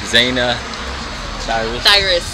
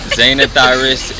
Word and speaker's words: Zanah Thirus: I'm with the Zanah Thirus. You said it right. Zanah Thirus, and we are here tonight at the Screening Room Atlanta.